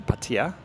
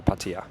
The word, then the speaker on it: Pattaya: So you can get from Bangkok to Pattaya, depending on how you want to pronounce it, Pattaya.